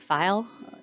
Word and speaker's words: Feil: F as in Frank, E-I-L, Feil. Rhymes with smile.